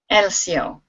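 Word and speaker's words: Helcio: Elcio. Elcio. So no pronouncing the H?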